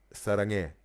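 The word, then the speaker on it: 사랑해: And Sarange is the he at the end, right?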